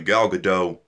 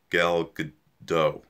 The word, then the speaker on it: Gal Gadot: was great okay a gal gadot goodell gal good gal gal gadot is that how you say it yeah she is Wonder